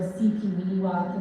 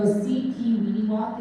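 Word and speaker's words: Sipiwiyiniwak: I am running in Ward CP Weeniwak, and so the easiest way to pronounce it is ABC, so C, P, elemental P, Ween like Halloween, and Ewok like Star Wars. So CP Weeniwak is the best way to pronounce it.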